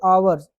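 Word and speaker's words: hour: ऐसे ही आवर्स मतलब घंटे के लिए आवर इसे बोलते हैं हम लोग आवर।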